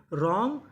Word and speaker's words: wrong: Right, written, रॉन्ग, wrestler. तो rule क्या था? अगर आपको आर से पहले डब्ल्यू लिखा मिले तो हमें डब्ल्यू का उच्चारण नहीं करना।